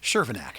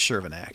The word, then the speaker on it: Chervenak: And, how do you say your last name again? I don't want to say this wrong. Shervinac. Shervinac. Last name is Shervinac.